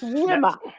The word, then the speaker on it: Wilma: is silent. The L is Right. silent. Okay, I just wanted It's Wilma.